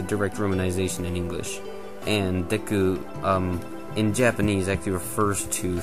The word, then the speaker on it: Deku: um deku uh yeah i've i've pronounced like dq for some reason all the time i've always heard that i i know this one is supposed to be deku though um the japanese name